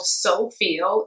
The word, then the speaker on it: Soufeel: The company is called Soufeel. It's spelled S-O-U-F-E-E-L.